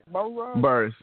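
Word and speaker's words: Burruss: Apparently, the group that consists of Candy Burrs, is that how you pronounce the last name? Burrs? Yeah. Burrs.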